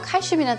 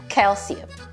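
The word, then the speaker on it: calcium: c i um이 단어 칼슘이란 뜻 많이 보셨죠 발음을 칼시 칼시 이렇게 발음을 합니다 칼슘이 우리나라 친구들 얘기하는게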